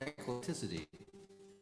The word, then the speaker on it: Eclecticity: Here's a song from an album called Eclecticity. It's been voted the most difficult title of a song to pronounce. Eclectical. It's just eclec and then city.